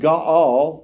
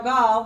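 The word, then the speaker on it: Gaal: And then we get this new guy in the story named Ga. kind of rhymes with Baal. That's how I say it. We'll see how Jackie says it. Now, Gaul, the son of Ebad, came with his relatives and crossed over into Sheckchham.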